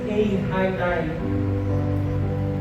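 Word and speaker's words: εἰρήνη: Paz, que no grego significa eirene, cuja pronúncia seria mais ou menos assim: eihainai, cujos significados é um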